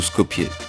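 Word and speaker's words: Skopje: m'emba nous voilà donc à SCOP ou scopier à vous de voir j'ai entendu les deux prononciations ne plus récurrentes était SCOP donc j'ai comme l'impression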